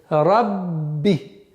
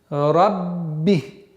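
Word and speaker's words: رَبِّ: Для произношения, для использования в арабском языке сперва нужно удвоить звук, а потом используется огласовка. То есть рабби, рабби.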